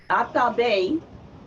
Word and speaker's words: Atabe: And in Taino, Atabe is how you say Mother Earth. So say it with me, Atabe.